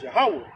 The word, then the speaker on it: Yahweh: That's how you really pronounce his name, Yahweh.